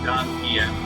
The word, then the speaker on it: Zangief: Well, actually, his name is pronounced Zangief, but I've been calling him the Geef since I was 6 years old, and it's really hard to break that habit, okay?